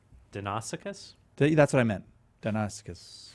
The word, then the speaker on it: Deinonychus: Deinonychus. Right. I think so. I just pronounce it with the old Greek pronunciation.